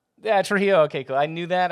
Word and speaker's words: Trujillo: He is incredibly awesome, and I didn't say his last name because I'm afraid to mispronounce it. what is your last name? Yeah, Trujillo.